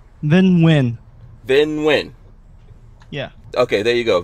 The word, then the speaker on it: Vinh Nguyen: Vinh Nguyen? Nguyen. Vinh Nguyen.